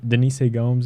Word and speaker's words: Denise Gomes: Up the card, we have Eduardo Moura versus Denise Gomes, or yeah, Denise Gomes is how you say it, or at least how Anik says it.